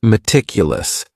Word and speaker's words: meticulous: And this word has four syllables and the stress is on that second syllable. Meticulous. Meticulous. That first syllable also has that schwa, that a sound, that reduced vowel sound.